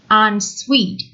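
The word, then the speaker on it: en suite: to some people having unsweet bedrooms is essential on suite su ite is pronounced sweet as GI t is pronounced soon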